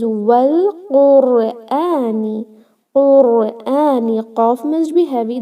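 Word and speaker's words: والقرآن: We will connect this wow to lam and say wal, not al. It is wal Qurani.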